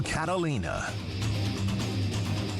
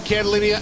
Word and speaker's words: Catalina: here's your host Catalina welcome back Catalia and Catalia I said my own name wrong my God H Pier